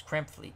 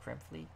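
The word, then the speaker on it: Krepfle: It's Krempflee, correct? Krempflee. Where's midlife? Where are you? Krempflee. All right. I got it right.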